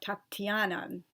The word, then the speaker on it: Tatiana: like Olga and then there's also a soft sign after the tea and Tatiana so it indicates you kind of say it more like Tatiana different people have different